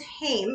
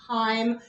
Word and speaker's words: Haim: your last name yes my last name is hame it's not heim now there is a